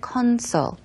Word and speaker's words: console: 보통 우리가 게임 콘솔 게임 콘솔이라는 발음 콘솔 보다는 컨솔 커 콘이 아니라 컨솔 쪽으로 발음하시면 되고요 Once again 게임 콘솔이